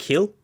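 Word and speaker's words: Gil: And yeah, I think that's how you pronounce it in Spanish. It's like Hill. It's H instead of G.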